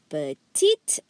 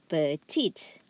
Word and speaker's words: petite: Okay, so you have here petit, petite, petit, petite. Okay, listen carefully. The S here is silent. So you only hear two sounds.